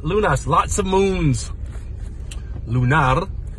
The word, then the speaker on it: lunar: Lunar, however, roll the R.